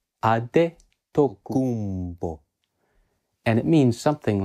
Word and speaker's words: Adetokunbo: mainly nigeria now in yoruba the name is pronounced as ade ade tokumbo and it means something like the crown came